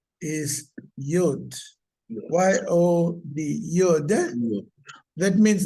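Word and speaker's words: יוד: It's called the Yod. Eh? The name of that letter is Yod.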